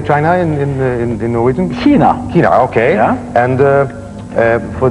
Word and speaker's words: Kina: do you say China in in in Norwegian Kina Kina okay and uh for this one I